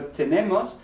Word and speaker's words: tenemos: So tenemos, we notice that this vowel is also no longer stressed, right? Tienes, tiene, tenemos, the stress falls here, that second to last syllable.